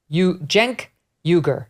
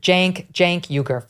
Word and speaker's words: Cenk Uygur: whatever his name is, My team think, tells me it's Cenk Uygur. You pronounce it Cenk Uygur.